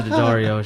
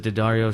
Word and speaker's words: Daddario: That's how you pronounce the last name because of Daddario strings, I believe, like guitar strings. I want. Oh, the Dario.